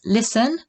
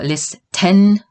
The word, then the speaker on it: listen: But the T is not pronounced. The T is silent here. So we pronounce listen, listen. We do not pronounce it listen or listen or listen.